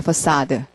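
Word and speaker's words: façade: 동사 이렇게 나오는 거 그다음에 발음은 사드 야 이것도 이다도 멋있어요 사드라는 말이 건물의 외관인데 건물의 페이스 아아 그 발음이 발음이 멋있잖아 파사드 브러시 부어 공부해 보신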